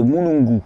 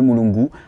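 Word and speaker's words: mulungu: c'est le manque de sommeil c'est l'écorce de mouungu mouungu ça s'écrit m u l u n g u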